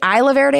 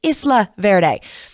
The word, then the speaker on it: Isla Verde: lukio in isla verde i always want to say isla verde because that's how it's spelled but it's isla verde but we drove for